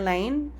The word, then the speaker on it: Lane: called it in her lane. It's a spin-off of my name. So my last name is Lane and the story of my last name being Lane, it's actually pronounced Lan.